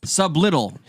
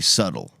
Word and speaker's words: subtle: subtle sub button no sublittle like i understand you do this i understand when you look at subway subtle it's subtle it's cool man it's almost like s-u-d-d-l-e subtle well this is it's